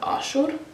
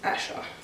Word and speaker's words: Asher: In Assyrian, you'd pronounce it Ashur, which is what my dad's name is, but the like English way is Asher.